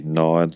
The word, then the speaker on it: gnaw: Another example of this would be gnawed, like a dog gnawed on a bone, and nod. Ah, like okay. nod my head. We pronounce them differently. Do you know this? So to nod your head. Yeah. So that for me would be nod, Right. and then to gnaw, GNAW.